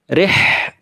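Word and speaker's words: رحلة: Rih, nah, pakainya ha, jangan sampai jadi ha.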